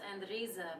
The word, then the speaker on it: Andrezia: It's pronounced ANDREZIA, but ANDREZIA.